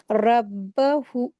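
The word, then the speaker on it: رَبُّهُ: रब्बहु रब्बुहु यहां पर र के ऊपर ज़बर है। इसको हैवी करके पढ़ेंगे और फिर ब के ऊपर शद लगी है। इसको सख्ती के साथ अच्छे से अदा करते हैं ब को। ठीक है? क्योंकि उसके ऊपर मुशद्द है। ये शद लगी हुई है। फिर हा के ऊपर उल्टा पेश है। इसको दो हरकत खींच के पढ़ते हैं। ठीक है? रब्बुहु इस तरीके से पढ़ेंगे इसको बिलवादिल मुकदसत इसको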